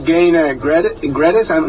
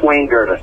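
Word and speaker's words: Wayne Gerdes: Yeah, we're talking to Gain Gredes, did I pronounce it right? It's Wayne Gredes.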